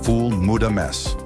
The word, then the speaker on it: ful medames: Every single morning, millions of Egyptians wake up to a dish called foul Medames, pronounced foul Medames.